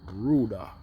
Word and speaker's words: ruda: I get right here, this is another medicinal plant, and it's called ruda. Is how they pronounce it in Mexico.